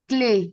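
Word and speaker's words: clés: It's the clay, CLES, clay.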